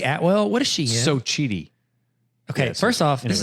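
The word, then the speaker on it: Xochitl: It's pronounced Sochi.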